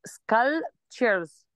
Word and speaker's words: sculptures: sculptures والسي هنا بننطقها ايه؟ لو خدتي بالك السي مش الاس، السي سكا سكا sculptures.